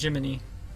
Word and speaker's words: Gemini: a character named whatever, her name is spelled Gemini, but no, it's pronounced Jiminy.